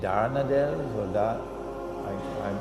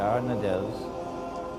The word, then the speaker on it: Dardanelles: and the Straits of is it darn Adele Giada I pronounced it wrong the first time the Bosphorus and the Straits of the Dardanelles would now be open